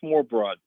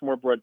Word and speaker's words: smørrebrød: I'll spell it first. It's SMORRE and then BROD. I think it's pronounced smørrebrød.